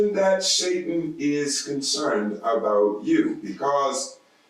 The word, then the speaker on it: Satan: The word Satan itself is a Persian word which is pronounced Satan, and it did not even enter into the holy canon of God until after the Babylonian exile.